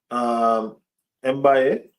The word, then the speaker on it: Mbaye: Ibrahim, Mbaye, that's how you pronounce that.